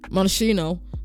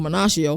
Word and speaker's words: Monachino: Defensive coordinator Ted Monachino, or Monacchio, I'm not sure how you say it, but I think it's Monachino. He's unconventional.